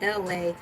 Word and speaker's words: LA: welcome you all to LA. My name is LA, pronounced like LA, like the city.